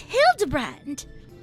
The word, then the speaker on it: Hildibrand: It's pronounced Hildebrand.